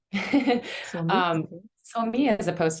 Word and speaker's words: Sohmi: Sohmi.